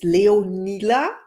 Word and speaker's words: Leonila: name is Caroline and my today's guest is leonila and I hope I pronounced your name right hello and welcome how